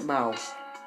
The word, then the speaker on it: Bauch: Acuérdate que siempre la CH es como J. Der Bauch.